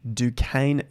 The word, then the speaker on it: Duquesne: about Bitcoins Stanley jokermiller had phenomenal success with Duquesne Capital that is how you say it I